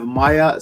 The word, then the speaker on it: Maija: the parlay podcast special guest today we have maya correct i pronounced that correctly it's certain there's no l